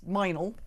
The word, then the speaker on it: Mildenhall: There's a place in Wiltshire called like Mildenhall, but that's Minal.